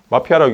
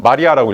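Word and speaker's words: Мария: 근데 그리스 말이나 러시아 키릴 언어 이건 R 발음이에요. 그래서 항상 이제 헷갈리는 게, 이거 어떻게 읽으세요? 마피아라고 읽죠? 틀려요. 마리아라고 읽어야 돼요.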